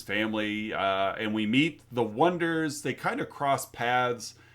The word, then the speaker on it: Oneders: And they come up with the Wonders, spelled Oneders, to which everyone for quite a while mispronounces as the Oneaters, because that's how it looks like it's spelled.